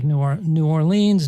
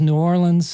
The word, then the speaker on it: New Orleans: Well, there's different ways. You can say New Orleans, New Orleans.